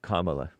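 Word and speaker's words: Kamala: How would you have pronounced it other way? The proper way. What's that? Kamla. Oh, Lord. That's her name.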